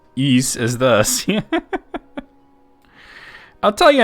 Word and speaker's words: Ys: ellie's room for east remember back in the day when people used to call it wise you know what